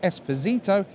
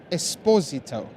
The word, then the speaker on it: Esposito: this next player correctly it's not Esposito it's Esposito so there you go